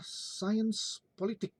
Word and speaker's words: Science Politique: itu dikenal dengan istilah science politik ya. Science politik. Nah, jadi kalau tadi di Inggris itu political science, nah di Prancis science politik. Tulisannya Science Politique, kita membacanya Science Politik ya.